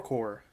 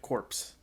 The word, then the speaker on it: Corps: It's the Thor core. It rhymes. I mean, unless you're gonna pronounce it corpse, which I've heard done, and I don't think is correct. Fight me about it?